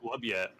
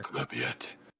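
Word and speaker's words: Maglubiyet: Maglubiet. Maglubiet? Is it Maglubiet? Is that? I guess Yeah. that sounds guttural. All right, cool. All right, I'm gonna put that for later. Maglubiet. Maglubiet.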